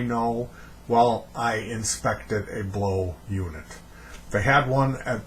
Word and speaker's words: BLAUX: here to talk about the blow it's spelled BL a u X portable air conditioner